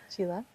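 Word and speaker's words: Csilla: Chila. So that CS is a chit sound and then mihi.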